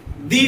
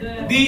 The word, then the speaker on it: the: कि अनियन है तो अनियन से पहले क्या बोलेंगे? दी अनियन बोलेंगे। एप्पल है तो क्या बोलेंगे? दी एप्पल पढ़ेंगे। आप द एप्पल नहीं पढ़ेंगे, ठीक है। द एप्पल नहीं होगा। द कैट हो सकता है, द मैट होगा, द बैट होगा, ठीक है, लेकिन दी अम्ब्रेला होगा।